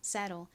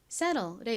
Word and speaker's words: settle: 미국식 원어 발음으로는 TTLE를 로 발음해서 settle 이렇게 발음하죠. settle. settle의 의미가 뭔가요?